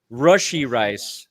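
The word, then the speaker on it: Rashee Rice: you're looking for reasons rushy rice not RI okay okay you know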